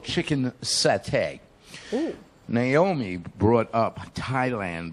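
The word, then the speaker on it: saté: We're doing a Thai appetizer called satay. It's spelled S-A-T-E, as if it were sate but it's pronounced as satay.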